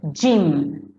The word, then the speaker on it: gym: බලන්න මෙතන gym.